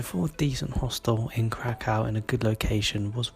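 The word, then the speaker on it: Kraków: But for now, it's currently day 2 in Krakow, not Krakow. I've been saying it wrong this whole time.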